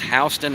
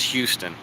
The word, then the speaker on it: Houston: In Georgia, it's pronounced Houston, and in Texas, it's Houston.